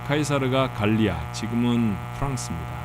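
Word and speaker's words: Caesar: 몇 번 드렸던 말씀이라 우리 식구들은 제법 아시는 말씀입니다만 우리가 시저라고 옛날엔 불렀던 카이사르 같은 이름이에요. 카이사르는 라틴어 발음에 충실하게 부르는 것이고 시저는 아마 영국과 미국 계통의 나라에서 그 이름을 지칭하는 말이었을 겁니다. 로마의 황제를 이후에는 지칭하는 말이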